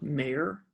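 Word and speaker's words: Maier: my name is mayer m-a-i-e-r and if you pronounce it meyer that's fine too like that's the way it's supposed to be pronounced my family is just wrong m-m-a-i-e-m-i-m-a-i do you do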